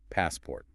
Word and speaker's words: passport: When you put them together, the stress falls heavily on the first syllable. Passport.